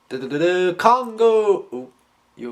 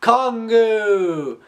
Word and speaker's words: Kongu: a Nika which is Congo you okay Kong all right kongu and his name is